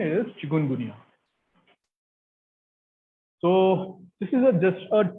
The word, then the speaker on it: chikungunya: And sometimes it is pronounced as chikungunya or chikungunya, but this is not a pronunciation, it is chikungunya.